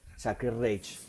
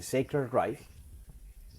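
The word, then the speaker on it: Sacred Reich: Bueno, la camiseta que yo tengo, vamos a mostrarla aquí es Sacred Rich, otro de los nombres que aprendimos a pronunciar tarde, seamos Sacred Rage, pero se dice Sacred Rif, que es una banda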